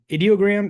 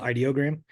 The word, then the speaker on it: Ideogram: a lot some of these tools but um idiogram is this is my favorite image tool right now um so it's I I guess I went to their their Twitter it's actually pronounced ideogram um and it is a free image generation